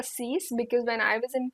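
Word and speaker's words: cinq: S is silent cat cat Sun C CE now some people say it CE some people say C I prefer CE because when I was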